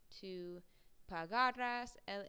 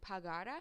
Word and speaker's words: pagara: it with the um with the spoken accent before the ra so pagara pagaras pagara okay for